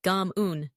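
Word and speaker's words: cảm ơn: Next, Kamon, thank you, which sounds a bit like Gam Un.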